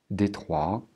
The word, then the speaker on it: Détroit: dans les pays francophones, on va les prononcer bien sûr à la française, c'est-à-dire Saint-Louis, Détroit, Bâton Rouge et Nouvelle-Orléans.